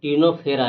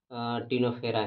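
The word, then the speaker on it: Ctenophora: और तीसरा आपका होगा टिनो टिनोफेरा। लेकिन इसमें भी सी से लिखा आता है मगर सी साइलेंट रहता है। सी ई ई एन [गला साफ़ करने की आवाज़] ओ पी एच ई आई टिनोफेरा होगा। तो इसमें भी क्या होता है कि सी साइलेंट होता है लेकिन पढ़ा जाता है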